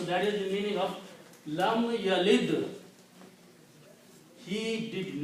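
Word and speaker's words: لم يلد: We have a word here, yavlid, lam yavlid. It's not easy to pronounce these things.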